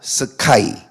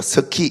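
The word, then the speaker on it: sky: 스카이. 발음을 잘해야 돼요. 스키 이렇게 이러면 안 됩니다.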